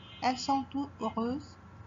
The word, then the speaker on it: heureuses: 8, elles sont toutes heureuses. L'adjectif heureuse commence par un H muet et non un H aspiré.